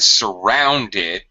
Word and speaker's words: surrounded: And surrounded, middle syllable stress.